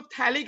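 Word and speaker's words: phthalic: P silent है, याद रखो, थैलिक एसिड बुलाते हैं, P साइलेंट।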